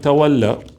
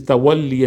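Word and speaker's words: تولّي: So now, even the whole issue of tabarra and tawalla, okay, the right pronunciation is tawalli and tabarri, yeah? But we're using the same, which has become common, tawalla and tabarra, yeah?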